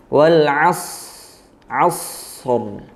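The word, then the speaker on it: والعصر: Wal 'asri. Asri, waqafnya wal 'asr. Nah, di situ sodnya sukun, kemudian ro-nya karena waqaf jadinya sukun juga. Nah, cara bacanya, cara mewaqafkannya bagaimana?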